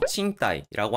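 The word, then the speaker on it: 賃貸: 일본에서는 임대라고 하는 단어는 그대로 칭따이라고 하는 음독 어휘로 많이 사용되는데 임차의 경우는 음독 어휘인 친샤크보다는 차자를 훈독으로 발음하는 칭가리라고 하는 표현을 더 많이 사용하기 때문에 조금 주의가 필요합니다.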